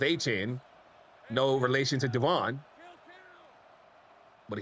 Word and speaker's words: Etienne: And Travis Etienne, we just learned that the ETN spelling is pronounced Etienne.